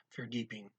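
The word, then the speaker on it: verdieping: ng at the end that g is not pronounced like a dutch g it's just the ng is pronounced like the english ng-ing so it's for deeping okay hot is going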